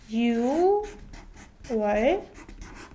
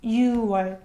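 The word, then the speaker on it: 유월: with you one so 6 in Korean is you right but we don't read it you boy we omit clear parts in completely and so it becomes u 1 so you shouldn't make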